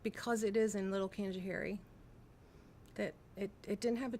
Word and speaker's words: Canajoharie: I just call it my hometown, and I just talk about my hometown being Canajoharie, and they say Canaja what?